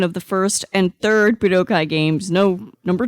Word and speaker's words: Budokai: How do you pronounce the word? Budokai.